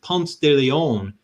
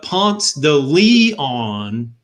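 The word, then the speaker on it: Ponce de Leon: to georgia and i learned that it's not pronounced pumps de leon but ponce the lee on palms to leon i'm like seriously like is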